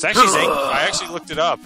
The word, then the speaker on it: Zangief: It's actually Zangief. I actually looked it up. It's actually Zangief. Yeah, Zangief sounds more like, or Zangief sounds like more of a Russian name than Zangief.